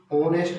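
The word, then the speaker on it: honest: लगाए या ए लगाए, तो एन लगाएंगे क्योंकि ऑनेस्ट में ओ की साउंड निकल रही है, एच जो है वो साइलेंट है, इसलिए ओ वोवल साउंड है, इसलिए एन लगाएंगे।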